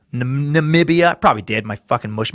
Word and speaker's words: Namibia: president is the only one who calls Namibia Nambia. Ah, fuck. Sorry, let me buy you a microbrewer single malt sometime. Man, damn it. Did I fucking say Nambia? instead of Namibia. Namibia.